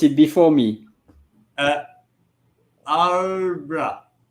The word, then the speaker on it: arbre: will let you pronounce it before me. Uh, arbra. Arbre.